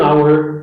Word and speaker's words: hour: Você pode entender aí, e você pode, prestando atenção, você vai ver que hour, o som do H não é pronunciado, e sim o som da primeira vogal após ele.